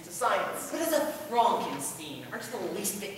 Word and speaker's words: Frankenstein: Frankenstein that's Frankenstein I my name is pronounced Frankenstein but aren't you the